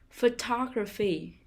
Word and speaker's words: photography: second syllable performance performance photography photography the stress is on the second syllable photography puppet puppet the stress